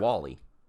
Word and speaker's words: WALL-E: Wally. It's Wall-E. It's spelt like Wall-E, but he's pronounced like the name Wally. Like Walter.